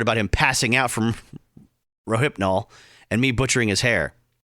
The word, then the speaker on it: Rohypnol: the Wind I'm sorry I realized I mispronounced Rohypnol the first time as rofanol someone please start a